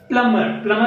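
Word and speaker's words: plumber: आता याच्यामध्ये बघा की प्लम्बर म्हणजे असतो नळ बसवणारा किंवा नळ दुरुस्त करणारा, त्याच्यासाठी तो शब्द वापर केला जातो. याच्यामध्ये देखील बी हा साइलेंट लेटर आहे.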